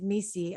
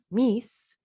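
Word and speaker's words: MECE: So it's like pronounced by many as Misi and pronounced by the author as Mies.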